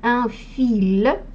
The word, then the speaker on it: fil: И слово «нить», «un fil», вот «un fil», «un fil».